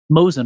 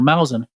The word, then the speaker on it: Mouzen: It's called Mozen or Mauzen, and it's spelled Mouzen.